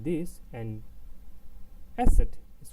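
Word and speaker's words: Eszett: We identify this as asset, but in the when we speak it, the sound is not asset, is more like of a double S, but for the identification of it, we call it asset.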